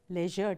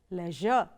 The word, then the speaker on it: leisure: one is pronounced as Leisure the second pronunciation says Leisure now both are right the first one is the British way of pronouncing the second one is the American way of pronouncing it I will follow the